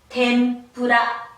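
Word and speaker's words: 天ぷら: 그러나 초금과 마찬가지로 얘는 하나의 박자를 가지고 있기 때문에 태, 응, 푸, 라 라고 발음을 하는데 그 응을 미음으로 자 다시 말해서 템푸라, 템푸라 여러분이 흔히 템푸라, 템푸라, 템푸라 라고 하는 튀김에 해당이 됩니다.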